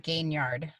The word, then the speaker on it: Gaignard: I get it wrong I pronounce it gain yard gaining yardage like football there I don't know